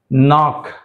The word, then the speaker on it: knock: knock, not, kneel, knowledge.